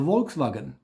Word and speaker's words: Volkswagen: So in Germany, the whole VW thing, VW, in Germany you have to actually reverse it because our V is V. That's our V.